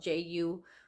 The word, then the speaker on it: Jujuy: That's how it's spelled, Jujuy, something like, yeah.